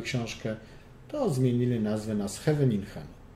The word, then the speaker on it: Scheveningen: To zmienili nazwę na Scheveningen. Co prawda po rosyjsku to było Scheveningen, dlatego że Rosjanie nie mają literki H, mają G, a z kolei holenderskie G czyta się jak H, więc po rosyjsku zawsze będzie G.